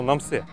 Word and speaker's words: Намсе: Следуя санскритской традиции сокращать длинные названия, тибетцы сократили Намтосе до слова Намсе, читается оно Намсе.